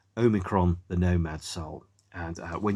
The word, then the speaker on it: Omikron: soundtrack to a computer game called, let me pronounce it correctly, Omikron, the Nomad Soul.